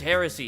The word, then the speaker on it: heresy: to be pronounced cuz I always I always read that as hearsay but it's not hearsay cuz hearsay is like a different thing right oh yeah it's heresy yeah yeah you said